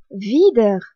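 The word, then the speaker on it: wieder: r a C H e c'est la langue VI signifie à nouveau VI s'écrit W I e d e r vide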